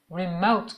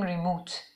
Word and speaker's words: remote: Remote control. توی فارسی میگیم ریموت. ولی خب تلفظش او هست. او نیست. Remote control.